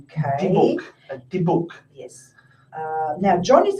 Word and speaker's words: Dybbuk: 2 dolls named Mimi and Esther, pieces of jewellery, and a Dybbuk box.